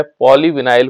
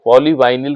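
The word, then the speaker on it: polyvinyl: तीसरा है बेटा जो बहुत इंपॉर्टेंट है, इसके बाद नेक्स्ट पॉइंट है वो है पॉलीविनाइल क्लोराइड या पॉलीवाइनिल क्लोराइड, जो आप कहना चाहो, ये प्रोनाउंसिएशन पे डिपेंड करता है बेटा, है ना।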